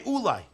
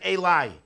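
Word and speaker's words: אולי: Ulai with a vav, you can only pronounce one way, Ulai. Ulai without a vav, you can pronounce. Ulai, you can also pronounce it elai.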